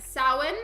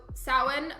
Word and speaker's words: Samhain: Oh, it's not sound, it's, here, I'll type it, but it's pronounced like Samhain, so Samhain, but it's spelled very differently from how it's said, but it's pronounced like Samhain.